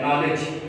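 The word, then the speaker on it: knowledge: अब नॉलेज है, नॉलेज, तो नॉलेज जो है इसमें NOW, यहाँ पर के साइलेंट है क्योंकि के बाद एन है और के स्टार्टिंग में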